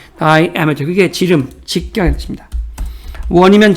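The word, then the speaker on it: diameter: 미터 다이 다이어 미터인데 발음은 다이죠. 다이아미터 그게 지름 직경이 뜻입니다.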